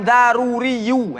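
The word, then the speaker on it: ضروري: Maka ilmu yang dinisbahkan daruriyu. Mana cara baca? Jadi daruriyu yang betul.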